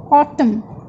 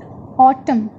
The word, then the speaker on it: autumn: Here letter N is silent, like in autumn, autumn.